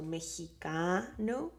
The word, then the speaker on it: mexicano: The stress of that word is in that syllable, in the second to last syllable. The last syllable is no, but the second to last syllable, penultimate, la sílaba penúltima is in ka, so that's the stressed.